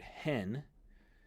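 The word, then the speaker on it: ἕν: means another thing so for example in the word hen means one like as in the number one and N is a preposition that means in so there are occasions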